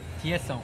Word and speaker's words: Thiesson: Thiesson.